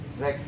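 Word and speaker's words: sechzig: And then, Zach, 60. Hmm? 60. What 60? What's in German? Zach. Zach, yes, correct. Zach, Zach or Zach? Zach. Zach. It's written S also, but we pronounce Zach.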